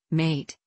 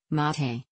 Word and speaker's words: mate: Argentina is an infusion called mate in Spanish mate with the accent on the first syllable Mahe the name comes from